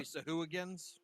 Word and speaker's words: sahuagin: Are they Sahuagins? You mean Shagwin? Away, aways. No, they're not Sahagwin? Sahagwins. That's not how you say it. Shagwin.